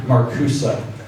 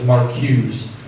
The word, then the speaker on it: Marcuse: Herbert Marcuse. So you probably pronounce it on first sight as Marcuse. M-A-R-C-U-S-E.